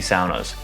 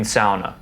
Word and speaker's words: sauna: correct in english but sauna is one of the few words in the english language with finnish roots so i feel it's proper to pronounce it the finnish way i know it may